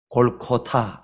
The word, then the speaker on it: 골고다: 머리 가죽이 벗겨진 상태 혹은 완전히 이 해골, 뼈로 얻은 상태, 이것을 바로 원래는 발음이 골코타 이렇게 되어 있는데 우리는 쉽게 그냥 골고다라고 하죠.